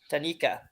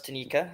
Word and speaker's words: Tanaka: And you pronounced Tanaka's name wrong. It was Tanika, I believe so.